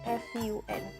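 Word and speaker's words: ふん: p-u-n and the rest are pronounced a spoon f-u-n as the pronunciation are the same the mean is from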